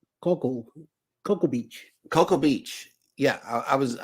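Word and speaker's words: Cocoa Beach: in and and it is pronounced that is pronounced Coco Coco Beach Coco Beach yeah I was was I was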